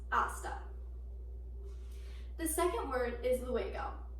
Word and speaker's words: hasta: first word is hasta it is spelled like pasta with an H but H is silent in the pronunciation therefore it is pronounced hasta the second word is